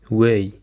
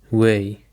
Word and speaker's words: weigh: The last word that we have today is way. way. It is spelled like we e i g h. It has the same pronunciation with the word way.